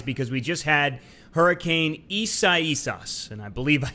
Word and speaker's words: Isaias: And, you know, maybe this was a blessing in disguise because we just had Hurricane Isaias, and I believe I said that right.